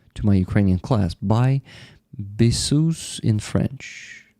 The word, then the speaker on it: bisous: Buy bisous in French. Buy is bisou. Bisou? Because S in the end is not pronounced, right?